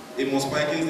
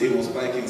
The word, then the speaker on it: Pikings: Nigeria will call it Amos Pikin, but the pronunciation is Amos Pikings.